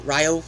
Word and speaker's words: Rio: Rio Grande and it's Ryo not Rio Ryo rhymes with Ohio um she taught it